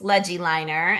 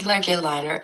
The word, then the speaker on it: LegiLiner: But I combine the word legibility, so writing legibly with drawing a line. So LegiLiner, that's how I came up with it. Where can people find LegiLiner and connect with you if they want to learn more?